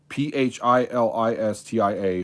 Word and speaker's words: Philistia: the land of philistia p h i l i s t i a philistia i think that's how it's pronounced all right the ark